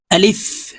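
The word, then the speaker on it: ألف: শুদ্ধ করে শিখে নিন আলিফ প্রিয় দর্শক এই আলিফ উচ্চারণ করার সময় উপরের দাঁত নিচের ঠোঁটের সঙ্গে লাগিয়ে তাড়াতাড়ি করে উচ্চারণ করতে হবে আলিফ আমরা অনেকেই দেরি করে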